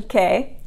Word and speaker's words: che: use che, the expression che, which just like chi, there's an H following the C, so it sounds like a k sound.